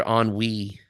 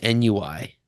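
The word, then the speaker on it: ennui: pronounced this way yeah I did that with the word on we in high school I thought it was Nui and then I said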